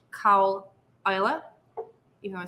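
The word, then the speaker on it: Caol Ila: we'll go on to cowella and it is pronounced cow isla you know i said that ila it's isla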